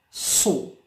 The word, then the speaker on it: saw: Saw. Yes, A pronounced O. Saw.